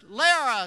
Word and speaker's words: Lehrer: And he got to mine and he said, "Lee here, And like some kind of idiot, I blurted out, "It's pronounced Lehrer, sir."